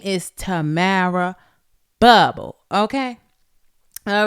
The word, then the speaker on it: Bubble: that part all right my name is Tamara bubble not with an s on it ain't bubbles it's bubble all right it's not